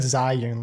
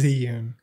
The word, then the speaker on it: Zhiyun: zhiyun oh not because i think i said zion last time and we got a comment and i believe it was ziyun yes i hope i'm